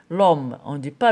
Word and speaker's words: homme: ما كتكتب وما كتقراش on dit l'homme on dit pas le homme on dit l'homme نقول l'homme.